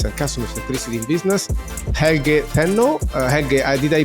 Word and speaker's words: Helge Tennø: advocate for adaptiveness and customer electricity in business hel Teno hel did I pronounce it well that's very good very good